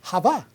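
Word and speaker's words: חוה: ja es el nombre Ja Eva en hebreo Ja no se dice no se dice Eva en hebreo se dice Ja Y que significa la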